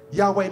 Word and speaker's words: Yahweh: mighty Army you know this is how you pronounce Yahweh ready yah y Yahweh means breath you know